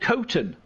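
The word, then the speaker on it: Coston: so we stayed in this little village called costum c-o-s-t-o-n which everybody called cotton and i don't know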